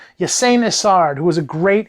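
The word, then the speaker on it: Ysanne: It's spelled Y-S-A-N-N-N. I've always said Ysain. Ysain Isard, who was a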